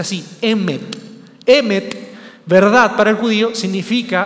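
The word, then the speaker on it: אמת: Pero para el judío, que era diferente a la cultura griega, el término verdad, que era una palabra que se pronuncia así, emet, verdad para el judío significa algo más existencial.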